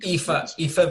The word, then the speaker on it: Aoife: Aoife Valkyrie.